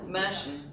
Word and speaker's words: Mercian: How do they pronounce it? Mercian.